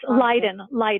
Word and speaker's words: Leiden: Oh, it's Leiden. Leiden. Okay, yeah. I after E.